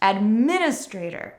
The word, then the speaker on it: Administrator: make this sound or Administrator but be careful that you're not stressing this sound at the end of the word because it is never stressed Administrator not administrator.